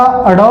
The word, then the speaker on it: ड़: एक आपका अड़ौ है, एक आपका अढ़ौ है।